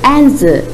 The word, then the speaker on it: answer: Then look at these words. The first one, answer. Next, write. Next, wrap. There, the letter W is silent.